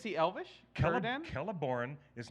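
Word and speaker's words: Celeborn: you this letter that when you have a letter C before any vowel sound it's a hard K that's why scred an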